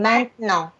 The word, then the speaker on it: maintenant: Анастасия, почему мы говорим «maintenant», если там «а-и»?